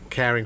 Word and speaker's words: Karing: set up the charity is called caring frontiers caring frontiers it's spelled with a k yeah yeah caring frontiers